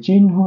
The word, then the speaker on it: চিহ্ন: তাহলে আমি যে বিষয়টা বলতে চাচ্ছি, এই যে চিহ্ন শব্দটির উচ্চারণের ক্ষেত্রে আমরা নটাকে আগে নিয়ে আসবো, হকে পরে লিখবো।